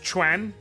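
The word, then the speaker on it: Quan: It's pronounced Chwan, but Sununuan Lord of Woo.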